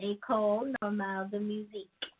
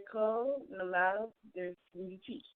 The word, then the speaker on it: École Normale de Musique: So in French, the E is pronounced A only if it has that accent mark on it, kind of like the word fiancé.